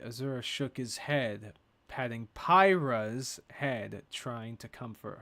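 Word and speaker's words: Pyrrha: down on the floor Robbie thinks that it's pronounced pyra oh pyra I pronounced PIRA God damn it because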